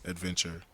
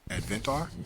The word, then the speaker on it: Adventr: ad ve NT our adventure TV so it's pronounced adventure which I had to wait until the person said in the video my way and Advent are yeah so so yeah but you're the first